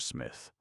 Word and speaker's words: Psmith: Smith. The pee is silent, as in shrimp, he reminded her.